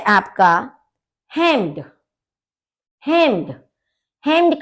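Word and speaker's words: Hemd: हेम्ड, हेम्ड का मतलब है शर्ट। ठीक है, तो देखिए ई का जो आपका प्रोनाउंसिएशन होता है वो ए होता है, तो इसलिए हम इसको बोलेंगे हेम्ड।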